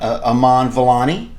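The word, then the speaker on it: Iman Vellani: Kamala Khan, Aman Vellani.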